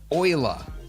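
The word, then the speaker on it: Euler: is underneath utilities and we're looking for rotate Ula is that how you pronounce that word YULA Ula that is right Oiler oh oer come on way Oiler wow oer Oiler Oiler no that's wrong Leonard Oiler right all right that's that is wild that's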